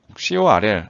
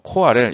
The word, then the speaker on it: CoRL: 이거는 이제 발음을 할 때 CORL 아니면은 뭐 코RL 이렇게 읽기도 하는데 이 원어민들이 코랄이라고 보통 많이 발음을 하더라고요.